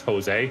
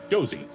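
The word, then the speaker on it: José: Yeah, I know people that aren't familiar with Spanish like the pronunciation uh like them kind of names like uh his name and they like Jose that always trips people up cuz uh I know a guy that uh will when he sees the name that's supposed to be pronounced as Jose, he will say Josie. I was like, "No, that's not how it's uh pronounced."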